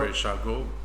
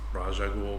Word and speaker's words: Ra's al Ghul: Ra's al Ghul. And say his name one more time. Ra's al Ghul. Ra's al Ghul. A lot of times it's pronounced Raj al Ghul, but it's Ra's Al Ghul.